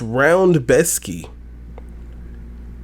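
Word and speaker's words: Rębecki: spelled Rebecki, but pronounced Roundbeski. It's Polish. It's how it works.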